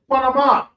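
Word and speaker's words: qanaman: Cinnamon, the Hebrew word is quanaman. Quanaman. It kind of sounds like cinnamon to a degree.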